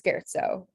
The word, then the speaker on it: scherzo: language pattern maraschino and then this one is scherzo um so the sch is pronounced with uh this guy um cool so